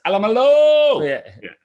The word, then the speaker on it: Alamalo: Can you just make sure you nail some of these pronunciations, though, mate? It's Alamalo.